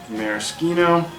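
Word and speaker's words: Maraschino: just half an ounce Maris ketone using that Italian pronunciation then it really does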